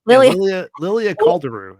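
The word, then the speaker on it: Lilia Calderu: I'm gonna get her name you got it Lilia Lilia caldero is how you say what what did you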